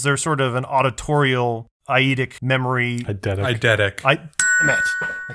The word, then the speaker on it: eidetic: How do you pronounce it? Eidetic memory? Eidetic.